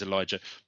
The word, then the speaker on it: Elijah: Am I pronouncing that right? Elijah. My dad would. Yeah, it is Elijah.